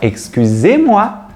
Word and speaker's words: excusez-moi: Você vai utilizar a palavra excusez-moi ou excuse-moi, cuidado, em função do contexto formal. Você vai utilizar excusez-moi.